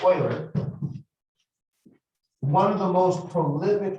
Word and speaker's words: Euler: So in 1700, Leonard Euler, and when I say Euler, he actually, his name was, when you see it, it looks like Euler, but it's pronounced Euler.